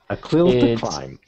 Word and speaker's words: A CLIL to Climb: How do you pronounce it? Right. It clear to time. A clil to climb.